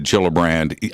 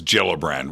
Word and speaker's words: Gillibrand: It's with, I think, a soft G. Okay, so it's Gillibrand. We'll go with Gillibrand.